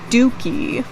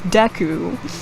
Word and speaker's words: Deku: you and the and I would pronounce it as Dookie for the longest time not even DQ because it's deku I didn't even read